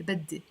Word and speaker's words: بدي: Because if I say بدي, that's not the way we pronounce it in Lebanese, the E. We pronounce it E, بدي.